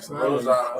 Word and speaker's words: Rosado: Rosado.